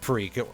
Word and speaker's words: Prix: by that I mean it's pronounced freak like Grand Prix you've heard of one